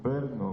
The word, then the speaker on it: Brno: Como é que você pronuncia isso? Eu falo Brno, mas não sei se é assim que fala.